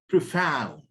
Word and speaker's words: profound: to speech of of profound knowledge of profound Brew found this one profound profound profound profound profound this is on the second syllable profound profound um